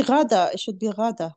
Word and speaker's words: Ghaida: It should be Rada. Rada. Rada. Thank you. Yeah. Okay. You're my hero. Rada, if you can hear us, we'd love to get your introduction.